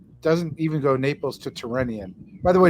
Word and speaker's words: Tyrrhenian: even go Naples to Tyrrhenian. By the way, does anyone notice Karthik keeps pronouncing Tyrrhenian? Tyrrhenian. It's not that. Okay, it's not a Slavic province.